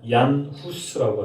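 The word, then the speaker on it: Jan Hus: 얀 후스라고 하는, 영어식 발음으로는 존 후스입니다.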